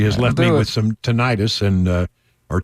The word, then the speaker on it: tinnitus: I was wrong. Tinnitus. Tinnitus. Tinnitus. Right. Or if you want to hear it slowly.